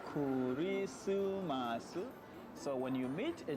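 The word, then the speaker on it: クリスマス: How do you say Christmas in Japanese? Your first Japanese lesson on Christmas Day. Kurisumasu. Simply say Kurisumasu.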